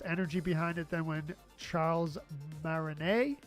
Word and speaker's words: Charles Martinet: There's less energy behind it than when Charles Martinet, I'm presuming you don't pronounce that T, was doing the voices.